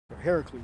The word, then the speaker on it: Heracles: the old TV show I heard Hercules Heracles is how you pronounce it actually it's just a story